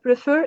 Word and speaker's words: prefer: And pay attention, prefer is like two syllables verb, and the stress is on the second syllable.